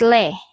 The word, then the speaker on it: Lê: This one, you pronounce this as Li. And this is Le.